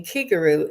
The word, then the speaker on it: Kigaru: that the key in kiguru is the same syllable as the key in Reiki it means spirit and